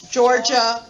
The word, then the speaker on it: Georgia: iowa so our answer would be georgia first syllable massachusetts third syllable nevada